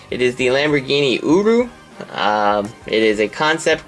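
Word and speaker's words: Urus: actually um but yes every time I heard it pronounced nobody says the S so uru that's how I uh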